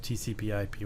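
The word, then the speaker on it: TCP/IP: we're using is called tcpip it's usually pronounced just tcpip without the Slash and it stands for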